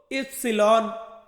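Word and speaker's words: ipsilon: ওয়াইকে Italian ভাষাতে আমরা বলবো ইপসিলন, ইপসিলন মানে কি, মানে হচ্ছে ওয়াই।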